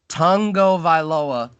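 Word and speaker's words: Tagovailoa: I tried absurd absurd Tongo vile oa is how you say his last name though and that's a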